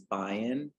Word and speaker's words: Bion: something about it so beyond welcome glad glad you're here well um thank you so much for having me on the the pronunciation of my name is Bayan um like Zion um but thank you